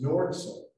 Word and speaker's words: Nordson: for Green Earth, and it's Nordson, that's the proper way to say it.